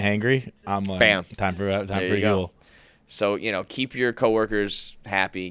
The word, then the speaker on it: Huel: meal, that is where Huel comes in. Huel, it's H-U-L-U, it's Huel is spelled H-U-E-L. It's fuel, but with an H, and it's today's sponsor of KFC Radio.